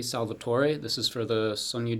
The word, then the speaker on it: Salvatore: last one would be S-A-L-V-A-T-O-R-E. And my dad said “Salvator’” . But when I went to Italy, they all yelled at me and said it’s not. Salvatore [Italian pronunciation: sal-va-tor-ay].